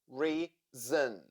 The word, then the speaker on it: reason: Reason. Two syllables and the first one is stressed. So letter O in the second syllable sounds zn. Reason.